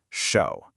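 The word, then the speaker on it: 守: Okay, so this first character is pronounced show.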